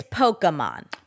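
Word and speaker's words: Pokémon: pronounce it yeah okay is it Pokemon or Pokemon it's Pokemon Pokemon um is Margot marale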